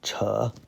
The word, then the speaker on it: 扯: Third tone, 扯, pull, tear, or chat.